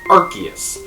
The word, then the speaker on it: Arceus: that the Pokemon Company has confirmed that it's pronounced Arceus.